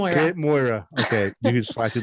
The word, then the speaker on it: Cait Moira: Okay, so how is it actually pronounced? So I I screw it up. You were so close. It's Kate Moira. Like Moira Rose on Shitz Creek. Moira Rose. Okay. Yeah. Kate Moira.